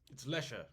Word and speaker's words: Leicestershire: He's from good God, Leicestershire. I think it's Leicestershire? Leicestershire. That's a cheese, too. Yeah. Is it? I feel like they probably are just like, no, it's pronounced. It's Leicester.